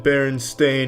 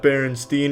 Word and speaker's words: Berenstain: It's always been Berenstain, not Berenstein.